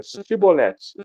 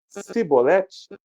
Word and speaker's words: Shibolete: Aí então ele diga Shibolete. Se atravessar alguém, vocês falam para ele dizer Shibolete. Se ele disser Sibolete, sem conseguir pronunciar corretamente a palavra, prendam-no e matavam-no no lugar de passagem do Jordão, ali mesmo.